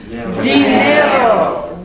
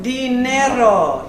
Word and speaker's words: dinero: We have Dinero. Dinero.